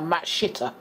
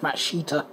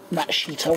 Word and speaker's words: Matsushita: rest of them are Matt Shitter. And I am not kidding, that is the name, if you pronounce it literally. But being a oriental name, you probably actually pronounce it something like Mashita.